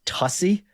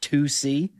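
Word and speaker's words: tusi: initially pronounced it as tussy, tu si. But then I saw on Twitter that the number two and the letter c are trending. So I think tussy I'm now learning is pronounced tusc.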